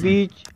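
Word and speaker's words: bee: तो दोस्तों चौथा नियम ये है, किसी शब्द के अंत में या दो कॉन्सोनेंट के बीच डबल ई आता है तब डबल ई का उच्चारण ई होता है, परंतु डबल ई के बाद आर ना आए।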